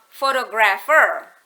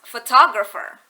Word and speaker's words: photographer: akan menjadi Photograph kemudian as soon as You add er on the end of the word Photograph it doesn't become photographer it becomes photographer si penekanan eh suku